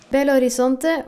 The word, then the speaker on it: Belo Horizonte: Belo Horizonte, or Belo Horizonte, like I learned how it's actually pronounced, is the 6th largest city in Brazil and has 2.5 million inhabitants.